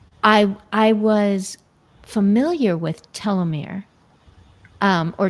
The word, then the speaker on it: telomeres: I I was familiar with telomeir um or telomeres. Is that how you pronounce it?